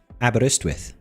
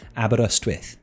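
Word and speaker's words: Aberystwyth: It is pronounced abberristwith. Or if you wanted to be really, really Welshy, you could say Abberestwith.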